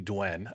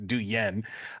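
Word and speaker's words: Duyen: And first, I want to say apologies to Dwen. I've been saying her name wrong this entire time. I've been saying Du Yen, but it's Dwen.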